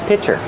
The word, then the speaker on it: pitcher: Use the short I sound like this is, plus the ch sound for chicken.